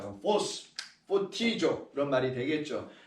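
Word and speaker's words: φωτίζω: 포티조. 자, 포티조. 포가 아니고 ph 발음을 합니다.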